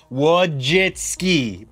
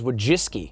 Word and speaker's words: Wojcicki: wachitzki we have and I had to literally write down phonetically wojitski before our interview that's how you say it isn't it I thought it was wojiski you're you're throwing a